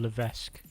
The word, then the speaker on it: Levesque: game the game Paul Levesque I think it's Le it's got s in there but I think you don't pronounce it when when they used